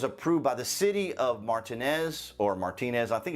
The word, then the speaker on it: Martinez: 1st a local martinez i think it's pronounced martinez martinez resident applied for a